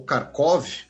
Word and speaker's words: Kharkiv: Ucrânia anuncia ter libertado toda a região de Kharkiv. A região de Kharkiv, né, ou Kharkov, na pronúncia russa, a gente sempre fala isso, né?